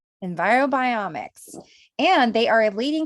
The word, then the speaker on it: EnviroBiomics: of Enviro Environ biomix is that how you say it is it envirobiomics yeah we got it envirobiomics and they are a